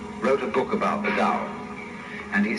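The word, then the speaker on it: 道: all the DAO PA o pronounce dow in the Mandarin dialects Tao in the Shanghai dialect told and the companies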